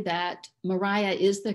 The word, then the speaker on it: Maria: Mariah was the pronunciation until after the Napoleonic Wars, when the English started traveling more on the continent and they were exposed to the Maria pronunciation then.